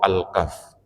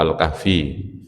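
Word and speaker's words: الكهف: Surah Al-Kahfi bacanya itu sebetulnya Al-Kahf ya. Kalau ngomong Alkahfi itu seakan-akan setelah fa itu ada ya-nya. Cuma orang kita itu sudah terlanjur kebiasaan baca surat apa? Alkahfi. Alkahfi itu Alkahfiyu gitu ya. Jadi harusnya bacanya Alkahf enggak ada ya-nya ya.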